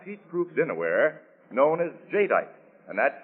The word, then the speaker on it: jadeite: new anchor glass heat proof dinnerware known as jadeite and that's spelled j-a-d-e-i-t-e jadeite now j-tite has the beauty of fine